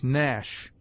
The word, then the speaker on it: gnash: G is mute before N, as gnash, sign, foreign. G before I is hard,